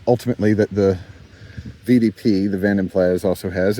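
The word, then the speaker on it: Vanden Plas: that the VDP, the Vanmplas also has. If you're wondering, that is oddly how it's pronounced. Uh, it's a Dutch word, Van, Vanenas, uh, meaning of the lake or by the lake.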